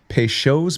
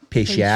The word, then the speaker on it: Peychaud: And you're going to want Peychaud's bitters, which looks like Peychaud.